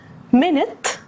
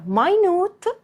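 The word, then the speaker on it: minute: بس معناها ونطقها مختلفين رقم واحد مت وماينوت الاتنين بيتكتبوا بنفس الطريقه بس الاولى اللي هي مت معناها دقيقه زي مثلا لما نقول بي باك ان انا هرجع خلال دقيقه التانيه اللي هي ماي نوت معناها دقيق او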